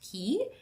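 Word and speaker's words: Caye: but with a Y but it's pronounced key it is so beautiful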